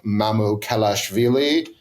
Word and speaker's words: Mamukelashvili: play they're getting off the bench from Sandro Mamukelashvili. Nailed it. Well done. Nailed the pronunciation.